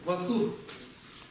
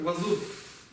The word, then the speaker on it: ཝ་ཟུར: Называется вот этот вот значок васур. Какой тон будет в сур? Низкий. Васур. На востоке Тибета это произносится как вазур.